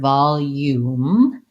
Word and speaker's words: volume: O or an oo we want really la vall and then we have our elf all vowel the the J letter symbol says yeah in American English and so it's almost like the word you in this word volume and then I need to end on my M volume so long short yes